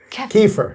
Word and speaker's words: kefir: The ke the how do you pronounce it? Kefir. Kefir.